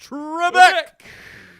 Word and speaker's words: Trebek: Alex Trebek.